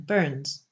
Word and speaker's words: Burns: It did not alter the pronunciation of the name, but the Ayrshire people persisted in calling them Burns in one syllable, as usual in the